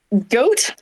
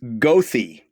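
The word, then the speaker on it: Goethe: that's a g um goat very close very close it's gothy completely without any re Rhyme or Reason okay really good for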